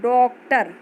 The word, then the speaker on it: डॉक्टर: जैसे आ लिखा है, ऊपर ऐसे चिन्ह दिया गया है, तो इसको हम ओ ऐसे करके उच्चारण करते हैं। जैसे आप डॉक्टर देखते हुए लिखा होगा, उसको आप बोलते हैं डॉक्टर।